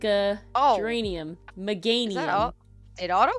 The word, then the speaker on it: Meganium: manium me germanium however you say it I pronounce it megag gorum is that is that that one I thought it was Germania is that the middle one I'm thinking of no that's bay leaf it's Meganium like it's like a geranium Meganium it auto